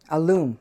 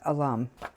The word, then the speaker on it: alum: See this is without alum aloom. I I can never pronounce it correctly. It's alum.